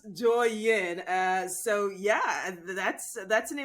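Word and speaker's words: Douyin: 2016 so you know tik tok in chinese is called joyin i i'm pretty sure i'm not saying that correctly or pronouncing that correctly twins right so you know exactly so so it's pronounced joy yin uh so yeah that's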